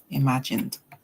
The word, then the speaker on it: imagined: So in the case of imagine, the N song, it's a hard song. You can hear N. So you hear imagined. The ED will say D, imagined.